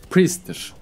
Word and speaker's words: Priest: Yani Price diye bir şey yok, o fiyat demek. Bunun doğru okunuşu arkadaşlar Priest'tir.